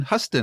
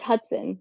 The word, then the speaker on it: Hutson: would be author huston how are you doing i'm doing great lou how are you too bad did i say your last name wrong you got the letters it's hudson yeah i'm sorry it's